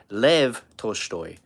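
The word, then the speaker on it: Лев Толстой: He's a Russian philosopher and I think in Russian he's it's pronounced Lev Toshtoy.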